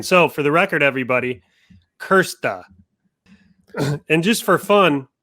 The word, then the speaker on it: Krste: so how do we say it it's kirsten kersta like that yeah yeah okay great so i've